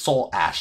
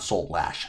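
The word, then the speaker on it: Soulash: Dev of Soul lash it's Soul Ash not Soul lash Soul Ash one and two Arthur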